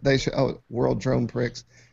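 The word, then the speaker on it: Prix: show oh World drone Pricks H it's awesome wait what did you say World drone Pricks oh x x like chicks with tricks X World Dr PR it's a PG podcast is silent apparently whatever it is now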